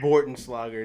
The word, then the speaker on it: Bortenschlager: Matt Bortenschlager. Bortenschlager. There you go. Max Bortenschlager.